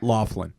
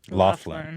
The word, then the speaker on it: Loughlin: house Lori Lowe Lolan how do you say her name I don't know Laughlin Laughlin that's a weird one that's like Irish right heard thought so this